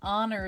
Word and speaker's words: honor: um an honorable person honor is spelled with an H but you don't make the H sound so it has the o sound so it's an honorable person and orange and apple